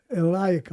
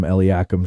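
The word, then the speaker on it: Eliakim: How do you say it? Elakum. That's how I say it. Tim Smith, I think, called him Eliakum, Cheryl. And I said, "What are you doing?"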